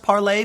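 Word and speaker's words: Parler: AR le AR and I'm assuming it's pronounced parlay because it's the French word and it means to speak but I'll leave it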